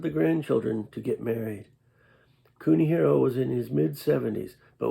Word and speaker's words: Kunihiro: The Chinese characters of his name were commonly pronounced Kunihiro in Japanese.